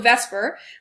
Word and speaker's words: VSEPR: of information there so Vesper which is obviously not how you would pronounce this order of letters but that's how we